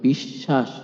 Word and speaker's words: বিশ্বাস: শব্দের মধ্যে বা শেষে ব ফলা থাকলে ব ফলা যুক্ত বর্ণটি দুইবার উচ্চারিত হয়। এখানে খেয়াল রাখবেন ব ফলা উচ্চারিত হচ্ছে না। কিন্তু ব ফলা যে বর্ণের সঙ্গে যুক্ত হচ্ছে সেই বর্ণটি দুইবার উচ্চারণ হচ্ছে। যেমন বিশ্বাস বিতান প্রশ্বাস দাসত্ব ইত্যাদি।